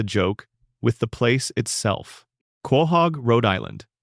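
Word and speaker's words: Quahog: Kohhog, Rhode Island, pronounced Kohhog.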